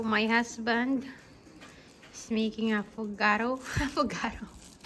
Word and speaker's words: affogato: Affogato. How to pronounce it, babe?